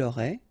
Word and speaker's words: aurait: Il aurait, elle aurait, final T not pronounced, so phonetically exactly the same form here.